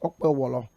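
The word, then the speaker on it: Okpebholo: On a lighter note, his name is pronounced Okpewolo. Forget about the spelling.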